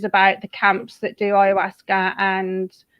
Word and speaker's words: ayahuasca: I'm always paranoid that I say that wrong because it's spelled completely different to how you say it. Yeah, it's ayahuasca. Ayahuasca.